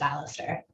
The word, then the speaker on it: Alistair: Is that how you pronounce your name? If I'm saying it wrong, please correct me. Hi, yes, it's Alistair.